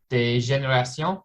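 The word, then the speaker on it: Dégénérations: Well, we were talking before the show, the big one was Des Générations.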